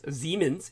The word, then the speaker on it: Siemens: By the way, our dear friend Brendan Zogit, who speaks fluent German, said I did spell Siemens correctly, S-I-E-M-E-N-S, Siemens. It's pronounced Siemens, he does remind me.